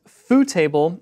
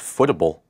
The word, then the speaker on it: FooTable: Next up is FooTable, and FooTable is a jQuery plugin that makes tables look really good at smaller mobile screen sizes. I thought it was pronounced footable.